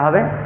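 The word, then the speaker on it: ح: মুছে ফেলি তাহলে এটা হবে হা গলার ভিতর থেকে হলকের মাঝখান থেকে হাটু কিয়ার গুলি উচ্চারণের চেষ্টা করতে হবে শুরু থেকেই আমরা চেষ্টা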